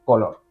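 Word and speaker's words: Coolor: Voy a decirlo como pienso que es, porque muchos documentales cambian el nombre, nunca es uno en particular, pero se escribe Coolol, te lo voy a decir, Color, situada a las afueras del municipio colindante de Picasen.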